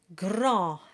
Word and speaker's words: grand: Grand, and the D is silent.